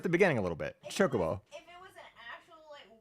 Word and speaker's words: Chocobo: Because I'm saying it's Cho, Co, and Bo, right? It's those Cho, Co, and Bo. But what am I saying that's so wrong? Just because I said Chocobo. I'm just speeding up the beginning.